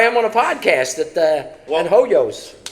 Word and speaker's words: antojos: so now here I am on a podcast at Antojos. Antojos. Antojos. Bleep that out. Antojos. It's not Italian, brother. It's Antojos. We're gonna bleep that out and put my voice on it. Yeah. Antojos.